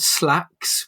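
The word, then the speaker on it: Slaxx: There was another film called Slacks, which was fucking ridiculous. It's spelled Slacks, S-L-A-X-X.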